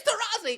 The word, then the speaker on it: Taurasi: don't mess this up all you have to do is say her name right Diana terisi it's terazzi it's terazzi it's tozi it's terazzi it's okay Whoopi it's